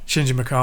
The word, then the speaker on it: Shinji Mikami: say the name because I always get the name wrong. Is it Mikami? Yeah, Shinji Mikami.